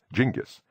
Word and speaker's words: Genghis: It is true that Genghis is perhaps better rendered as Jingis, but Genghis is how I learned it first and the one that resonates for me.